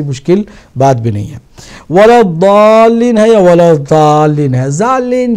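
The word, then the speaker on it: وَلَا الضَّالِّينَ: لہٰذا ہم بھی اگر صحیح تلفظ کرنا چاہیں تو وَلَضَّالِّينَ ہے, سملر ہے, بہت کلوز ہے دال سے, مگر وہ دال نہیں ہے بلکہ وہ ضاد ہے.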